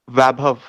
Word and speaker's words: Vaibhav: Pronunciation is Vaibhav.